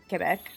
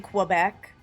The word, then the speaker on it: Quebec: Oh, what is it not just like Quebec? Instead of saying Quebec, it's Quebec or whatever, like Quebec. It's a K sound, not a Qu sound.